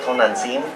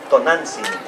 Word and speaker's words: Tonantzin: Not Tonantzin, Tonantzin.